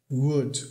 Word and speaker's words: would: Would, a forma padrão da pronúncia dessa palavra é com um som quase de O. Com um som quase de O. Mas muitas vezes esse som vai ser reduzido para um som de que é o som do schwa, né?